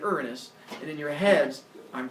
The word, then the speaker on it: Uranus: giggle every time and you're gonna call them Gaia and Uranus I've gotten used to it that's fine just realize that I refer to them I'm going to use the official name to say here Ghia and earnest and in your heads